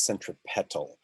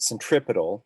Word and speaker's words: centripetal: word cent centripetal right which i will once in a while mispronounce it on purpose as centropetal just to really distinguish it from centrifugal but centripetal is the way it's usually pronounced the petal part means